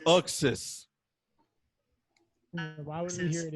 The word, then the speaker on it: Uxas: Oh, it's pronounced Uxas.